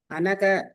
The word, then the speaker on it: அனக: அனக அப்படின்னா பாவமற்றவர். அந்த மேல அந்த ஹைஃபன் வந்ததுன்னா அந்த இடத்துல நம்ம சேர்த்துக்கணும். அது ரொம்ப ஸ்ட்ரெஸ் பண்ணியும் ப்ரொனவுன்ஸ் பண்ண வேண்டியதில்லை. ஸோ பாவமற்றவர்.